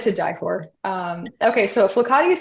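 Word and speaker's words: flokati: is it's like to die um okay so flucati is spelled f-l-o-k-a-t-i and let me show you what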